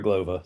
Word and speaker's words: Glova: Glova. So, I I hope so. My name rhymes with supernova.